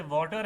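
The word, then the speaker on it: water: टी को टी नहीं पढ़ेंगे टी को डी की साउंड में पढ़ेंगे जैसे वाटर है ना तो हम वाटर बोलते हैं। टर बोलते हैं। टर नहीं होता।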